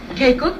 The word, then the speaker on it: Keiko: A nice welcome now, please, for John Alpert and his wife, Keiko. How do you do? Nice. You look terrific. You don't. Am I pronouncing your name correctly? Keiko?